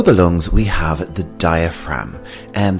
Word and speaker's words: diaphragm: lungs we have the diaphragm and the g here is silent diaphragm our next body part